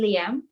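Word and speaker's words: Liem: on the interwebs uh liam is basically my last name but written down phonetically when pronounced in english so my last name is which is spelled l-i-e-m how many languages you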